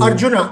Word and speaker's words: Arjuna: The contemporary spiritual warrior faces an equally calamitous challenge as how do you pronounce it? Arjuna in Kuru. Arjuna. So Arjuna.